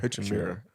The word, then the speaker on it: Hachimura: How do you pronounce his last name? Hachimura.